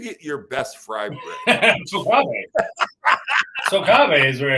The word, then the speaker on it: Tocabe: And in the beginning of this episode, I said it wrong. I say Tocabe, but how do do you say it? We say Tocabe. Yeah, we say Tocabe.